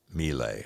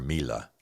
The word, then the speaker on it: Miele: My wife and I got this new machine called, I think they pronounce it Miele or Mila.